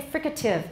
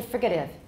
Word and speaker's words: fricative: doesn't work there and i also say fricative i don't say frigative i suppose it's possible but